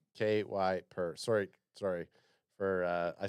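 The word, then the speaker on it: Kiper: Travis O'Shea says it's Kuiper. Whatever. KY per. Sorry. For I said Kepler.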